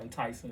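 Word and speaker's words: Ntyxing: clothesline like this uh it's called enticing it's spelled n-t-y-x-i-n-g it's phonetic now that right that was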